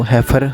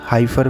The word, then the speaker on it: heifer: तो हैफर, हाइफर कुछ बोल लो, प्रोनाउंसिएशन जो आपका मन करे, बट काफ या हैफर बोलते हैं इसको, जो इनके बच्चे होते हैं, मेल काफ, सी काफ।